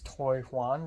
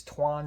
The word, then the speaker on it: Toijuan: We basically went into the editing lab again, and today the instructor is Tuan Shannon, or it's spelled Toijuan, and I thought it's Toy Juan, but no, it's Tuan Shannon.